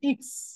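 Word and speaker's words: Ix: না সেটাকে তারা বলে ইক্স ইক্স ইক্স ওকে ইক্স ইক্স দেখেন আমরা যেটাকে হচ্ছে এক্স বলি সেটাকে তারা বলে ইক্স ইক্স দেখেন ইক্স তবে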